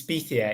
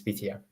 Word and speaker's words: Pythia: Yes, it's Pythia. It's actually named after a Greek oracle, the Oracle of Delphi. Yeah. So it has Greek origins, and the correct pronunciation is Pythia.